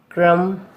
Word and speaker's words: crumb: B is not pronounced after M at the end of a word. For example, limb, crumb, dumb, comb, bomb, thumb, climb, tom.